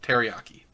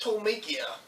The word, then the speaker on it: Tolmekia: Nausicaä spots an airship approaching the valley, and Yappa realizes it belongs to the kingdom of Teriyaki. Hank, it's pronounced Tolmekia. Yeah, well, I'm gonna keep calling it Teriyaki.